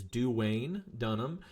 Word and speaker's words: Duane Dunham: I did not mispronounce that. It is Duane Dunham.